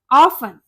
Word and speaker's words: often: इसमें T silent होता है। यह होता है ऑफन।